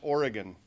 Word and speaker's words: Oregon: the reasons i got involved and actually it's pronounced oregon let's get that right and truth be told